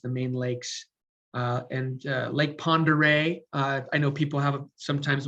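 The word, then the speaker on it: Pend Oreille: main arteries the main lakes uh and lake pondere i know people have sometimes when they'll pronounce it they'll uh they'll struggle with pronouncing it so it's pronounced lake pondere that's an incredible lake it's the biggest lake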